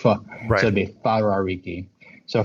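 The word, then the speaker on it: Wharariki: actually whenever you see a w and it's pronounced with a f like f so it be farar Riki so farar Riki Beach it's up the north it's very very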